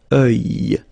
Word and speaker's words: œil: Strange combination of vowels here, okay, and then you will get the sound and then y. Œil. Alright, and it's masculine, by the way. Un œil, l'œil.